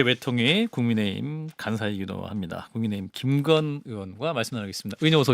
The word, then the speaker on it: 김건: 건강한 정치인이 아니고 건강한 정치를 하시는 김건 의원님. 두 분 인사 나눠주십시오. 네, 안녕하십니까. 안녕하세요. 안녕하십니까. 네. 자, 우리 발음을 조금 잘 하셔야 될 것 같아요. 예. 좀 김건희 여사라고 들릴 수가 있으면 헷갈릴 수가 있어요.